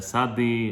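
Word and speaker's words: צ: However you want to pronounce it, you could, but the Sephardic tradition tells us it is like a, it's not a S, it's a hard S.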